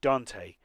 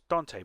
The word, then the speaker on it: Dante: the ccno had reached dante rhymes with ant oh dant then okay i thought it was dante but yes must be